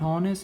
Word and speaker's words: honest: I use an because this h is silent, and this honest, not honest, it's honest. Honest, o is pronounced, so that's why I used it here.